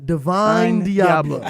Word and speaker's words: Divine Diablo: Couldn't remember the name, but repeat after me. Divine Diablo. Divine Diablo. Does not start with an O. Divine Diablo. Does not start with an O. It rhymes.